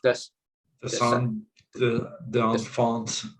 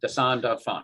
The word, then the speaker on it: dessin d'enfant: How do you say it in French? Dessin d'enfant. Dessin d'enfant.